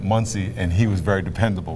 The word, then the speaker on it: Muncie: His nickname to us was Money, because Money rhymes with Muncie, and he was very dependable.